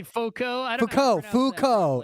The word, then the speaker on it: Foucault: I don't know how to pronounce. You say Foucault? I don't Foucault.